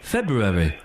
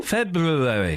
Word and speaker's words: February: February. Yes. There's a B in there somewhere. Yeah, there's a button. There's an Yeah, I know. February.